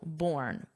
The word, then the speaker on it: borne: There's an e on the spelling but the pronunciation is exactly the same as I was born. So born but with an e for spelling.